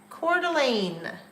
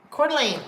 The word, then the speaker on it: Coeur d'Alene: and r n um hang on I gotta spell it c o e u r Coeur d'Alene Coeur d'Alene so Coeur d'Alene is in Idaho beautiful Lake